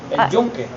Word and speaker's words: El Yunque: How do you correctly pronounce this park? El Yunque.